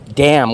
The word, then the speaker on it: damn: Damn. What about the word damn? D-A-M-N. Does anyone say damn? Damn? No, silent. The N is silent.